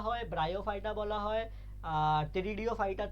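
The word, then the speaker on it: Pteridophyta: পি স্পেলিংটা কিন্তু পি দিয়ে, হ্যাঁ, টেরিডিওফাইটা, পি সাইলেন্ট, হ্যাঁ।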